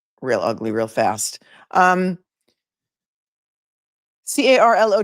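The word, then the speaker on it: Carlow: Okay, I'm going to pronounce this right because you guys you guys wrote to me and told me how to pronounce it. Carlo, Ireland. If I'm wrong, tell spell it phonetically for me in the chat. C A R L O W.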